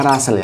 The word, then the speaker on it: Russell: Charles Hai tak taste Russel bacanya Rasul Ya tulisannya harus Russell double R sulitnya nama orang